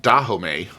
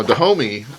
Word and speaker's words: Dahomey: I just had to look up how to pronounce that. I was saying Dahomey, and that was totally wrong. Now, Dahomey is, or was, a kingdom, and it was in West Africa.